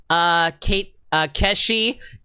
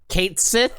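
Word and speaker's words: Cait Sith: We picked up Keshi, who I found out is pronounced Kate Sith in the remake of Final Fantasy VII recently.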